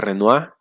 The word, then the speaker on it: Renoir: no confundir con manet pierre auguste renoir se pronuncia renoir renault se escribe ya saben que en